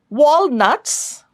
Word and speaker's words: walnuts: Walnuts, walnuts, it's a monophthong long sound, and stress on the first syllable.